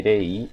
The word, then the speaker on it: rei: Essa aqui se pronuncia assim, rei, e não rei, tá, gente? Prestem atenção no R, que se pronuncia re. Então, rei.